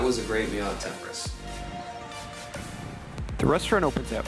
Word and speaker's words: Temporis: Actually, it's pronounced Temporis. I think it's Latin.